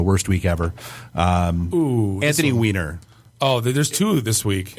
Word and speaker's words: Weiner: week ever um Anthony Weiner oh there's two this week Anthony Weiner yeah but Anthony Weiner is hand it's not Wier it's still it's weiner no it's still I